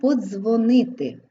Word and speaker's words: подзвонити: де звертаємо увагу на слово Подзвонити д з в корені слова вимовляється як один звук з подзвонити Отже в рядку